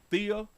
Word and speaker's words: Thea: Thea? Oh, it's probably Thea, right? Thea. So the H silent.